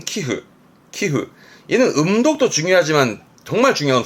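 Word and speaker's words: 寄付: 기억해 보시고, 첫 번째, 기부하는 발음은 키흐.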